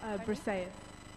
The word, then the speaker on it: Briseis: Yeah, this character that Madeline's talking about is, sorry, how do you pronounce it again? Briseis.